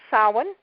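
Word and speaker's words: Samhain: it was ours and it's called sa and it's spelled Sam Hayne and it traditionally happens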